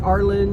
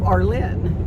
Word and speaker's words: Arlin: Arlin you know they they think it's Arin or Arlene or any other rendition of Arlin you know but it is Arlin with the accent on the Lyn and that's why I